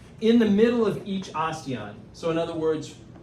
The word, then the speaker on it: osteon: That's a, starts with an O, rhymes with bastion. Osteon.